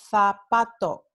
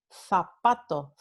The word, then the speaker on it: zapato: Entonces, en España, en el norte y centro de España, esta palabra se pronuncia zapato. Again, like the TH sound in through, zapato, zapato.